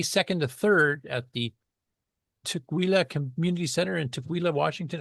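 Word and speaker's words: Tukwila: Um, and that's coming back May 2nd to 3rd at the Tquila Community Center in Tuila, Washington. Am I pronouncing that right, Mark? Nope. Tquila is how I pronounced. Tquila.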